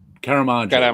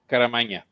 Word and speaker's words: Caramagna: How do you pronounce Joe's last name? Caramagna, right? Caramagna.